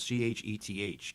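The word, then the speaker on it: ח: It is called Chet. And as I said, the word Chai is often spelled C-H-A-I. This letter Chet could be spelled C-H-E-T-H, pronounced Chet.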